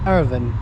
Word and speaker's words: Irvine: reached um Urban station uh how do you pronounce this Irvin Irvin there we go so Ryan here with his